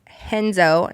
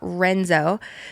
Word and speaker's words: Renzo: Wednesday apparently I've re I have pronounced the name of our gym that I've been going to for a year incorrectly this whole time it's henzo not Renzo so henzo Gracie on